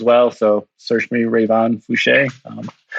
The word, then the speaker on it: Fouché: And by the way, that's Fouché, Fouch, with a little accent on the E.